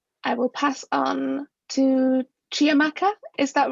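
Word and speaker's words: Chiamaka: tcl 29 and i will pass on to chia maka is that right have i said it right yeah hello my name is chamaca my pronouns she ha hers uh i'm in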